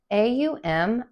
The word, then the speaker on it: Aum: It's just two letters, but it's three syllables really. A U M Aum.